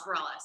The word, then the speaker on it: Bareilles: If it is, if you spell it Bareilles, yeah. Yes, Bareilles.